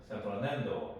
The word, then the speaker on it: San Fernando: 그래서 샌프로난도 이렇게 이제 읽으면 될 것 같아요.